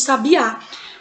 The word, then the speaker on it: sabiá: Só que na última palavra do segundo verso, nós temos sabiá. A sílaba mais forte em sabiá é o A.